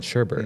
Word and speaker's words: sherbet: No, there's no R in sherbet or sherbet. It's called sherbet.